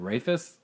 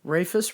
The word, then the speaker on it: Rayfest: pronounce your last name what rayfest rayfus rufus rayfest you said it right the first time rufus breakfast oh man